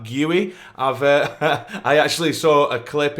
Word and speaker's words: Guiu: I believe that's how you say his name, not just Guiu, it's like Guiu.